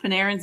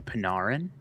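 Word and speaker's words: Panarin: and so they mispronounced Panaran's name too. They just wrong thing, you know. I always hear Canadians say instead of Paneran, they always say Pinarin.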